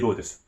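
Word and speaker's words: Rhodes: Hulk Hogan Ric Flair Dusty "Rho-des" (That's how we pronounce the wrestler's name in Japan!)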